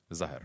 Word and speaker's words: Zahr: Zahr, Zahr, right. Yeah. like a rose.